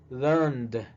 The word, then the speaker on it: learned: Si termina con N, verbo que termine con N, la ed se va a pronunciar como D también. Entonces sería learned.